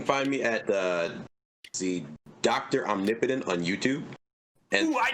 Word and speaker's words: Omnipotent: Omnipotent on YouTube. And ooh, I knew I was right. Yeah, it's how it's pronounced. It's omnipotent, like the word.